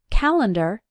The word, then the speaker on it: calendar: You might notice that when we pronounce it, calendar, it sounds like ER, but when we write it, the correct way is to use AR.